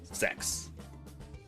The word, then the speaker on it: CEX: Otherwise, just people call it the sex shop because that's apparently how it's pronounced, is sex.